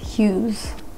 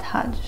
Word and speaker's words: Hughes: last name wrong so her last name is hughes not hajj i don't know where